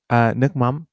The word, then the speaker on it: nước mắm: Oh, nokcham? Is that how you pronounce it? Nước nước mắm.